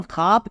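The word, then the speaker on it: خواب: वह वाव मातला है वाव मदुला उसे कहते हैं जिसमें वाव लिखा तो जाए लेकिन पढ़ा ना जाए जब हम खवाब पढ़ते हैं तो वाव साइलेंट है हम इसे खवाब नहीं पढ़ सकते भले ही हम वाव को लिखेंगे लेकिन नहीं पढ़ना है इसलिए यह वाव मातूरा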